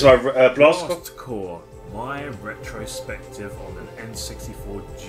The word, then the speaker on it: Blast Corps: blast core and yeah that is how you actually pronounce the game it's not blast corpse as a title and the the way it spell would actually have you think it is no it's blast core think of it as